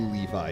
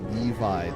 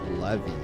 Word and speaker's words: Levi: on Titan and um he kept pronouncing Levi Levy like as in like Levy or from like Fairy